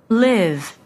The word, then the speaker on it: live: Live. Leave. Live. 그 앞에 거 leave는 장음이고 뒤에 거 leave 하게 되면 짧은 발음이 나죠.